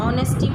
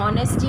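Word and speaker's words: honesty: नो में K silent है, नी में भी K साइलेंट है, और ऑनेस्टी में भी जो है वो H साइलेंट है। ऑनेस्टी पढ़ते हैं हम, हॉनेस्टी नहीं पढ़ते, इसीलिए H साइलेंट है।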